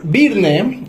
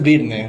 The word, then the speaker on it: Byrne: de la marca Pues birne en México es birne realmente pero originalmente es un apellido es un apellido Irlandés Nosotros somos una empresa